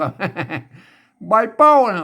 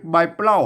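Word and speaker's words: ใบเป้า: แล้ว อ่าน ว่า เป้า อ่าน ว่า เป้า ไม่ ใช เป้า นะ ครับ ใบ เป้า ใบ เป้า ใบ เป้า ไม่ ใช่ ใบ เปล้า นะ ครับ ใบ เป้า ใบ เป้า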